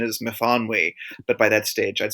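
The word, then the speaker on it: Myfanwy: The main character in in my first book is named Miffany to rhyme with Tiffany and because that's the way the um the little girl who I used to babysit pronounced it.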